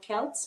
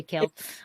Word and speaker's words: Celt: uh celt word uh celts how do you say it depending on who you're talking to it's celt but many people say kill okay um so means